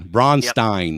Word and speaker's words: Bronstein: Bronstein? B-R-O-N. Oh, Bronstein. B-R-O-N. Yeah. Oh, there it is. Like Stein. Bronstein.